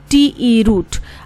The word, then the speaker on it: route: तो क्या स्पेलिंग होते हैं, ROUTE, रूट।